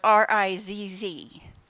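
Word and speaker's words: rizz: the word is Riz and I'm going to spell it R i ZZ she didn't spell it but it's Riz and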